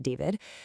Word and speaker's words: D4vd: Yeah, that's spelled D4vd, but pronounced David, and the death of 14-year-old Celeste Rivas Hernandez.